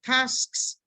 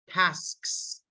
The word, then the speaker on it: tasks: Tasks, Task. tasks, tasks. Ese sonido no es muy común en español y por eso nos cuesta decirlo.